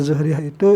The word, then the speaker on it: Zuhriyah: Gimana cara baca Zuhriyah? Bil dhammiz zai, dengan dhammah zai, zu, jadi kan ay al-mansubah, yang dinisbatkan ia Zuhriyah itu ila Zuhrah, kepada orang yang bernama Zuhrah bin Kilab.